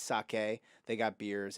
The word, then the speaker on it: sake: It's not pronounced sake, it's sake.